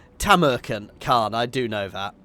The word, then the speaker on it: Tamurkhan: I am playing as takan however I say it properly it's tamaran KH I do know